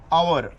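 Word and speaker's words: hour: number आहे तो आहे आवर आवर म्हणजे आपण तासासाठी वापरतो किती आवर झाले किती तास ले तर त्याच्यामधला एच देखील हा इथे सायलेंट आहे नंतर इथे वापरतो आपण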